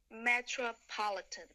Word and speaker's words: metropolitan: so is the Metropolitan metropolitan oh I made a mistake nice dress metropolitan yes the stress is on the third syllable metropolitan okay metropolitan thanks